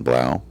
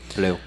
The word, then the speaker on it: Blue: his next victim uh ellen brow i think i'm saying that right blue it's pronounced blue blue okay fine whatever uh